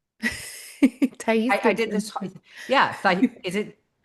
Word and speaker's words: Thais: Ta. I did this. Yeah. Is it Tai? Yeah, it's pronounced that.